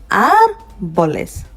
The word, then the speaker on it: árboles: En los árboles. We can also see that I'm stressing on the R because there is an accent on the A.